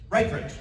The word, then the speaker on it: Ripridge: . How do you say your last name so I don't butcher it? Ripridge.